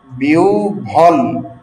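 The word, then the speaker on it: বিহ্বল: হ এর সঙ্গে ব যুক্ত হলে হটা হবে ও এবং ব হবে ভ। যেমন বিউভল বিউ ভল।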